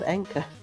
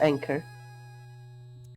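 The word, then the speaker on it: enka: and Sheepman dead like the music genre is called Anka Anka not anchor yeah Anor is is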